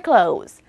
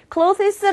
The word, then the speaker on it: clothes: ing 활용하셔서 summer cles 자 발음 여러분 sumer close summer close cles 아고 하시는 분들 되게 많아요 summer close라고 한 단어인 것처럼 얘기를 해 주시면 돼요 They are wearing summer